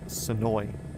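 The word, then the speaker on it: Senoia: uh a town west of me called Soya. S E N O I A, but everybody out there says it's Soi. Uh which is more of like a Native American pronunciation or something like it.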